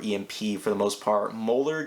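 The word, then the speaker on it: Müller: for the most part moeller getting mueller is how you say that is getting spider-man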